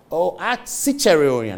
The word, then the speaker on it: Ciceronian: Ciceronian, that's the pronunciation. It's talking about Cicero, the Roman writer.